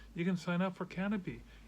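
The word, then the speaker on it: Kanopy: Now, you can watch this on Canopy, that's spelled with a K.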